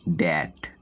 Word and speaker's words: debt: কোনো ওয়ার্ডে টি এর আগে বি থাকে তবে বি এর উচ্চারণ হবে না, যেমন DOUBT ডাউট, DEBT ড্যাট।